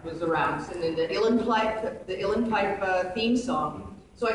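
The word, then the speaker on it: uilleann: So I got the guy that played on Braveheart, played the theme song, to bring his Ilan Pipe, Yulin, or however you pronounce it, U-I-L-L-E-N, Pipe. Yulin Pipes.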